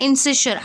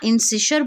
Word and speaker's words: incisure: Mandibular notch या फिर इसे हम बोलते हैं इंसिशर, या फिर अगर अब मैं आपको बोलूँ, मैं आपको स्पेलिंग लिख के बता देती हूँ, INCISURE. ठीक है, इसे हम लोग मैंडिबुलर नॉच बोल सकते हैं या इंसिशर बोल सकते हैं.